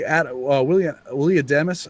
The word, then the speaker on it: Adames: Willie Adames, I keep pronouncing his name wrong. I keep wanting to call him Adams.